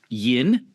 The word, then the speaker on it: Yin: I'll be playing as uh Yin. It's it's spelled vin, but if you're cool and you're like in the south, you can say yin and like really draw it out and that way it's really fun for everyone.